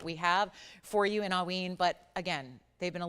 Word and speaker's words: Haüyne: So again, if you're curious, it's usually pronounced within, like, think AW, or like, like like you're yawning, and then ween, like W-E-E-N.